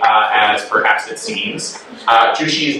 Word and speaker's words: Zhu Xi: So in order to get a handle on his name, you can think of the word juicy like juicy fruit and that gets you kind of close to the pronunciation.